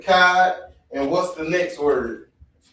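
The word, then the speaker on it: אחד: So You know the character CHAA, right? Mm-hmm. We don't pronounce it as Chad. That's the English way. Mm-hmm. It's always Ka, CHAA, or Ka, KA. So try to pronounce it one more time. There you go, Akkad. That's how you pronounce it, Akkad.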